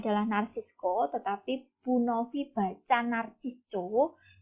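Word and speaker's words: Narciso: diwakili oleh native sesak Narsisco Ramos ini sebenarnya Bacanya adalah Narsisco tetapi pun Ovi baca nabito agar nanti ketika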